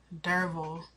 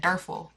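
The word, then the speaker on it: Derfel: daril it means strong derville that's how they pronounce his name y'all I was pronouncing it some I was pronouncing it derl like derful deral okay where they live he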